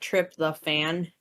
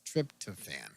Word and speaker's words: tryptophan: I thought it was like trip the fan. No? I was Okay. taught how to pronounce it by my grandmother. It was tryptophan.